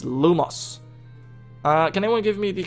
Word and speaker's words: Lumos: Hello class, today we'll be learning the Wand Lightning Charm, also known as Lumos. Lumos pronounced lumos.